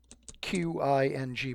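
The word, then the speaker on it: Qing: It's spelled Q-I-N-G, but it's pronounced Qin.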